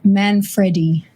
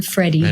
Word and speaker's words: Manfredi: And just a slight correction, it's Man Freddy. Man Freddy Freddy.